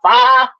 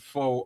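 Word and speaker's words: pho: So then fi faux f um he Yeah, it's it's called fa. I don't pronounce it fa. I pronounce it faux all the time.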